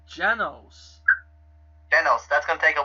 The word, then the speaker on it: Genos: Yeah, he was doing that when he was battling Jensei. I keep saying his name wrong. Genos.